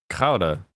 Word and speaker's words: Gouda: It's a D, not a T. What? Gouda? That's a D. I don't know what you want from me. A man from the Netherlands taught me how to say it when I was a young boy. Now I say it like he taught me.